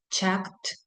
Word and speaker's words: checked: Checked, todos los que terminan en K, sí o sí, en cuanto a pronunciación, va a sonar mucho lo que es la T.